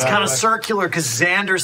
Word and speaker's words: Xander: It's kind of circular because Xander sounds like it starts with a Z.